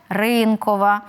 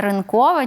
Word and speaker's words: ринкова: що він зручний є у нас слово ринок то і економіка у нас буде ринкова а не ринкова чи ринкова як ми деколи можемо в медіа почути є у нас іменник тигр то він і буде тигровий Принт наприла приклад а не тигровий Дякую Ксеня останнє питання